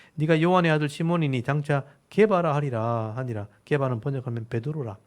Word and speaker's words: 게바: 이 게바라는 말은 히브리어예요. 히브리어. 그러니까 구약에 쓰는 유대식 발음이고, 페트로스, 베드로라는 말은 헬라식 이름이에요. 페트로스, 베드로, 반석. 케베라는 말이 원래는 바위란 뜻이거든요. 바위란 뜻인데 이게 헬라어로 바꾸면 베드로가 되는 거예요. 페트라스가 베드로가 되는 거예요. 그래서 게바는 유대식 이름, 베드로는 헬라식 이름 이렇게 표현하면 되겠죠.